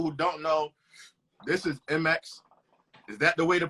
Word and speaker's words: eMeX: Like Jay-Z is Jayz, so it's 2 letters pronunciation, but it's spelled with 4. And so it's eMeX.